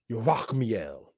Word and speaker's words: Yerachmiel: Yerachmiel is really how you will pronounce that.